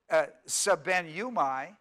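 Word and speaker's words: σβέννυμι: s ven and you mi now when you pronounce it sub nu my sub nu my it's a very it looks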